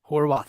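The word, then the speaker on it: Horvath: I always thought there was an R like Worth before. Yes. And then I'm seeing not now, and I'm like, oh, wow, I guess I was mispronouncing it before.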